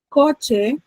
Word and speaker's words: coche: Coche, si ven también, recae la mayor fuerza de voz en la penúltima sílaba y de igual manera lluvia.